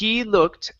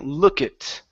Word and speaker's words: looked: So the ed is going to be a T sound. So you're pronouncing it literally, saying look it.